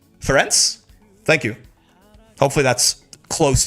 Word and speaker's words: Ferenc: The pronunciation for the C is like ts and rents. Ferenc?